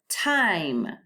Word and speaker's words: time: Time. This word has 4 letters, 1, 2, 3, 4, but only 3 sounds because the E is silent.